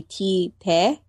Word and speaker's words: Tite: Actually, the pronunciation would be T-Te. Is it just a pseudonym? Isn't it like a pen? Yeah, but if you... I mean, I'm going by the Japanese pronunciation.